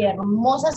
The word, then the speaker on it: hermosa: Eso, y hermosas son con H. Espérate la H muda, la que no suena. H, hermosa.